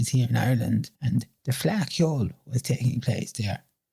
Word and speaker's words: Fleadh Cheoil: Why do you say you were a Fleadh Cheoil? Uh no, Hector. It's pronounced Fleadh Cheoil. It's Irish, it's Gaelic.